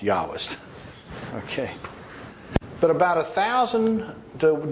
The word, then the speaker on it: Jahwist: German, remember, German J is pronounced Y.